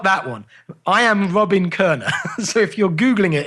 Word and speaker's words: Koerner: I am Robin Kerner. So if you're Googling it, it's If You Can Keep It, Kerner. And Kerner is spelled Koerner.